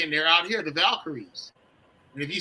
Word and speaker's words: Valkyries: they're out here, the Valkyries. And if you say, "How do you pronounce that?" or spell that. Just think of Val and Kyrie. Okay, that's how you can think about it.